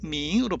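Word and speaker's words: 冥: 이것도 마찬가지 밍으로 발음되죠.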